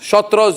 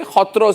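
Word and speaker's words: সত্ৰ: Shotros, you say. Hotros is the right pronunciation.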